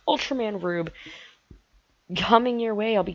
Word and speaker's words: Ultraman R/B: you enjoyed them also Ultraman are /b pronounced Ultraman rube coming your way I'll